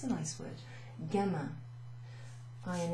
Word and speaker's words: gamin: We have gamin, which means youthful. It's a nice word. Gamin. I and the N is pronounced un. Gamin.